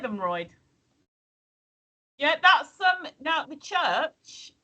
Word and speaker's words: Mytholmroyd: What's that Mytholmroyd? Hey! You got it right the first time. What, Mytholmroyd? Mytholmroyd.